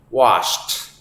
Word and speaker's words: washed: has become washed away this is another one where the IDI sound at the end of the past participle is pronounced like a t washed washed away to wash